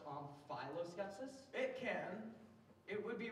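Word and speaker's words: omphaloskepsis: Can that also be pronounced omphiloskepsis? It can. It would be wrong. Omphiloskepsis.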